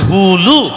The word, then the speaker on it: হুলু: ঠিক তদ্রূপ ওই উলু হবে না, উচ্চারণটা হবে হুলু।